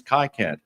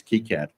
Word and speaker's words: KiCad: Well, you know, when I first saw KiCad, I've seen Wi-Fi, I've seen Hi-Fi, so I thought it was KiCad, but apparently it's KiCad.